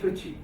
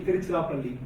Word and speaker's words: Tiruchirappalli: Tiruchirappalli is quite complex for the Englishman. When India was colonized by the English, they just cut it short at Trichy. So they don't want to pronounce the entire word, so they call it Trichy. but it's actually Tiruchirappalli.